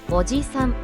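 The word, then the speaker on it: おじさん: 오지산, 아저씨. 이 단어는 오지산이라고 짧게 발음합니다. 일반적인 아저씨를 지칭할 때 사용합니다. 지는 한 박자로 짧게 발음됩니다.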